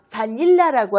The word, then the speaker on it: vanilla: 것에 가게 되고 그다음에 바닐라고 하는 바닐라 새 음절일 적에 중간에 오는는 부분을 더 크게 발음하게 된다는 거죠.